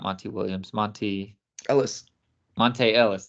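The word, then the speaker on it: Monta Ellis: Monte Ellis. There it is. See, I was saying Monty. That's why I was throwing me off. I was saying it wrong.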